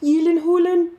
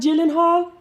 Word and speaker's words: Gyllenhaal: top of me alfredo did you know it's pronounced elin hulen not gyllenhaal oh sorry i meant